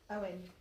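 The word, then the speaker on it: Eoghan: Owen. Oh. Apparently, EOGHN, apologies, is Owen.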